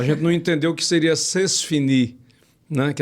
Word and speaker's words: c'est fini: Mas aí como a gente aproveita muita coisa do francês, o o c'est fini, né? Que é o zé fini do, do, do matuto, né?